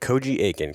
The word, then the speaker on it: Koji Aiken: I want to make sure I'm pronouncing this correctly, but Koji Aiken, correct?